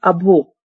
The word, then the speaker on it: abhor: Next है अभो। वैसे इसकी प्रोनाउंसिएशन अभो है, आर साइलेंट है, लेकिन हम अपने ट्रिक के लिए इसको अभोर बोलेंगे।